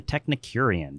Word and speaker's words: Technicurean: Signature Kitchen Suite is made for the Technicurean. Did I pronounce that correctly?